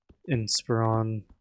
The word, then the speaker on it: Inspiron: I upgraded to a uh a Dell Inspiron, that's how you say it.